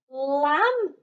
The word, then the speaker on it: lamb: wake the boys misses lamb chop silent b in the word lamb mrs lam chop said to